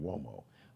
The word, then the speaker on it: Uomo: Now, Uomo is spelled with a U. It's got the W, like the W-O sound, Uomo, but that's an Italian surname.